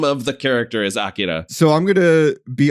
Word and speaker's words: Akira: Which is this movie's title is pronounced Akira. It is not Akira.